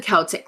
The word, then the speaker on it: Celtic: I have it as a K in my notes, so I won't say it wrong. Thank you very much. We've got the Celtic lads, which were able to do a couple of runs.